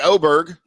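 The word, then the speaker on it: Åberg: lud Aber Berg oberg now you've got me confused on how I should say his name I know they say oberg on TV but with the letter starting with a it's just hard for me to do that with my my little brain um he's playing Valero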